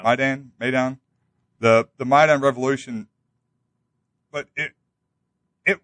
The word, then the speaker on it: Maidan: out that we backed it's Maidan, is that the pronunciation? Yeah, Maidan, the Maidan revolution, but it wasn't.